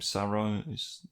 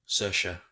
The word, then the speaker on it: Saoirse: Sarah is Ronan? Saoirse, like inertia.